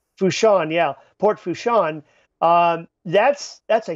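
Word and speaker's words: Port Fourchon: And no doubt the big oil facility there in the port there, I forget how to pronounce it. Fushan. Fushan, yeah.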